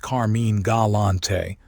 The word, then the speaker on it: Carmine Galante: Carmine Galante — pronounced Car-MEEN Gah-LAHN-tay — was born on February twenty-first, nineteen ten, in East Harlem, New York.